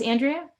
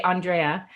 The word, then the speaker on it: Andrea: Is it pronounced Andrea? Yes. Okay. Hi. Some people say Andrea.